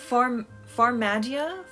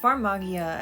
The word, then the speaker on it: Farmagia: Okay, so first of all is Farmagia, however you pronounce that. Farmagia, I think is how they were pronouncing it in Japanese, but I don't know if I should go with that pronunciation or not.